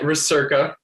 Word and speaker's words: Recerca: Did I butcher any pronunciations? We are calling it Recerca.